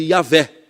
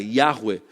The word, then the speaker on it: Yahweh: Néia, tem a ver com Yahweh, ou como popularmente a gente chama de Yahvé. Mas essa é a pronúncia em hebraica, Yahweh, que é, as pessoas dizem, um dos nomes possíveis de Deus.